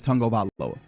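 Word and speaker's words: Tagovailoa: it's not spelled but if you ask the Man how he pronounces his name he says tongo Vala he does and I also say tag of aloa which is fair yeah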